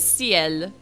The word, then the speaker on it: ciel: I want to see how it's pronounced. Vous êtes un ange envoyé par le ciel pour m'encourager. It is ciel.